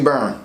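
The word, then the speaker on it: Byrne: be why are any so it's actually burn sorry about that Gabriel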